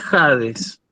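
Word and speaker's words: ᾍδης: Y esto se lee Hades, ¿sí?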